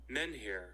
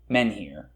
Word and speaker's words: menhir: How do you pronounce it, actually? Menhir. Menhir. Yeah, it is menhir.